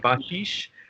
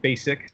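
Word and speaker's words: Bašić: me how to pronounce named banished my last name looks like basic to any American music that designed this instrument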